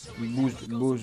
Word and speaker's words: Booz: Booz, je ne sais pas comment ça se prononce exactement, je m'excuse d'avance. Ça s'écrit B-O-O-Z. Moi je dirais Booz.